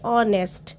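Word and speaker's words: honest: लेकिन इसमें भी हम एच की आवाज नहीं आती है। हम प्रोनाउंस करते हैं ऑनेस्ट। ऑनेस्ट ईमानदार। तो हम अ और ऑनेस्ट नहीं लगाते। हम एन ऑनेस्ट यूज़ करेंगे। एन ऑनेस्ट मैन क्योंकि इसमें ओ का आवाज आ रही है कि साउंड आ रही है।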